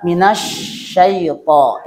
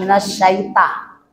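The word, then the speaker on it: من الشيطان: Nah, ini di kalimat minasyaiton, ya. Minash itu bukan minas, tapi dibacanya minash, ya. Kemudian di sana itu to bukan ta, jadi minasyaiton bukan minasyaita, tapi minasyaiton, ya, syaiton, ya.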